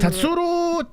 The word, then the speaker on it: Tatsuro: Tatsuro Taira. It's not Ru, it's Ro.